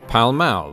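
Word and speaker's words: Pall Mall: game called palamaro or palmal the pronunciation of which can still be heard in London today when locals pronounce the street name of the same name pal ma but the game a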